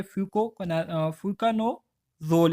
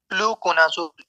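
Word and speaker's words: fluconazole: इसी तरह से ट्राइकोनाज़ोल है, ट्राकोनाज़ोल है, पोसाकोनाज़ोल है, ठीक है, फ्यूकानोज़ोल है। तो इसकी प्रोनाउंसिएशन जो है थोड़ी सी मुश्किल है। फ्लूकोनाज़ोल ईर्ण वाला।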